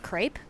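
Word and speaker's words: crêpe: Uh, scallion pancakes are more similar to uh I've heard it pronounced both crepe and crepe and they're an entirely savory variant of pancake that utilize a vegetable.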